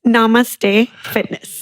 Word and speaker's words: Namaste Fitness: Pronounce the name of your business. It's Namaste Fitness. Okay, very good. Namaste. Namaste.